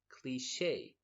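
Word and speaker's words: cliché: with is cliche and notice that the pronunciation is cliche what's a cliche I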